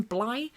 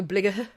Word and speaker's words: Bligh: He was from the captain, William Bligh. But if you're reading, it's spelt like Edinburgh, Bligh. Oh, Edinburgh. Yeah. Bligh. B-L-I-G-H. Yeah, like Blighty. Yeah. Yes. Or like Blight.